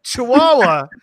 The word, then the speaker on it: Chihuahua: I was like, oh, Chihuahua. Oh, because you don't, I mean, how often do you see it written out? You know, you kind of in your head, you hear it, but so Chihuahua Jill, Cam Majestic 2011, R&M Cachers just came